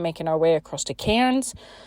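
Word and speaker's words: Cairns: our way across to Kens I say Kens but I think because it's spelled c a i r n s uh but everyone says it's cans so who knows anyways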